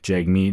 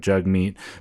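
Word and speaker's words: Jagmeet: spelled j a g m e so people pronounce it J Meat instead of jug meat but as you pointed out this has been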